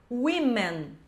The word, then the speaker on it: women: Plural de woman vira essa palavra aqui, women. Women. Essa é a pronúncia correta do plural da palavra woman.